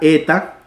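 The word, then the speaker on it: ἦτα: como un zumbido Zetas luego está la eta que la e larga y se pronuncia como en él él él él con el acento eta él A diferencia de la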